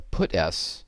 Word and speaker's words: puts: I should note that people do pronounce this method puts instead of put s but it's obviously constructed in analogy with put C which puts a character you also might notice